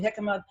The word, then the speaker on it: jicama: a latin food so those js are pronounced as an h okay oh okay yeah